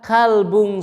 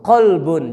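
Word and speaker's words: قلب: Tapi kalau dibaca kalbun salim, gogog. Nah, gogog yang selamat. Nauzubillah. Suma nauzubillah. Jadi ini pengucapan makhorul huruf. Qolbun. Jangan kalbun ya. Qolbun. Sekali lagi jangan kalbun.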